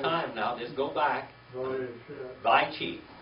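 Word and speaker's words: וַיְחִי: Vaychi. Vaychi.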